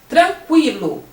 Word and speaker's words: tranquilo: Mas quando você fala tranquilo, o QU tem o som de quilo, o U aparece. Antigamente nós tínhamos o trema para essa palavra tranquilo.